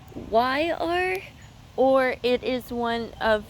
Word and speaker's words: Zephyr: Zephyr? It's Zephyr, or it is one of the yellow hybrid squash.